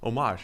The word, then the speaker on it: Homage: Homage, yeah. The great people at Homage, which I'm reliably informed that's how you say it over here.